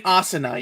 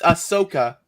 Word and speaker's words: Ahsoka: a 2d asi asaniyuki why you keep saying asana you keep it's ahsoka the problem is that you are not pronouncing it distinctively enough to become confusing yes